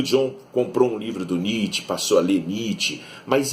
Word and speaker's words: Nietzsche: Ele falava Nietzsche. E aí o Barry Miles explicou para ele que não, John, é Nietzsche, né? E o John comprou um livro do Nietzsche, passou a ler Nietzsche,